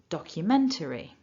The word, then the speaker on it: documentary: Remember to stress syllable 3. Repeat after me nice and loud. Documentary.